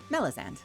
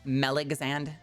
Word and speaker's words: Melisande: A lot of people like to really overcomplicate it. It's not that complicated. I feel like the silent E messes people up, like confuses people. It's Melizand. TTS calls me Meligzand. It's not Meligzand. Zentrea calls me Mellow's, which sounds like an